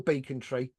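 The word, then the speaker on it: Becontree: Council houses in what became the beckon tree or Beacon Tre there's no right way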